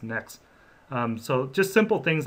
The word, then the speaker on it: NXT: I've talked to Andreas before, and I've heard him refer to it as NXT, but the correct name for it is Next. It's spelled NXT, but it's pronounced Next.